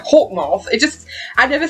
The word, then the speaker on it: Hawkmoth: big bad is hawkmoth now it's weird because i say it like that because that's how they say on the show the americans are half mart but i say hawk moth because i'm bloody british so i have to